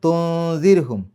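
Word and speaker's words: تنذرهم: അംലം തുൻസിർഹും, തുൻസിർ അവിടെയും ദാലിൻ്റെ മുമ്പ് സുക്കൂന നൂന് വന്നു, അതിനെ ഇഖ്ഫാ ചെയ്യുക, തുൻസിർ.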